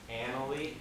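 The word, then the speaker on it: Analy: And just so we're clear, that school is pronounced Annalee.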